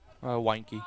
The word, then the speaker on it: Weinke: Did we ever get a pronouncer on that? Weinke.